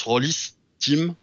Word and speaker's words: Rolisteam: in in the name so he has to be pronounced Horace Tim and we have to